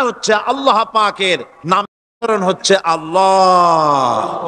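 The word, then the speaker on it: الله: হচ্ছে আল্লাহ পাকের নাম উচ্চারণ হচ্ছে আল্লাহ মুখটা একটু গোল হয়ে যাবে বলেন আল্লাহ আল্লাহ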